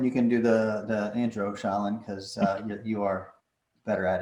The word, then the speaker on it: Shailin: Welcome to the Programmatic Sensei's Corner, Shailin. That's how you pronounce it, right? Did I butcher it already? Shailin.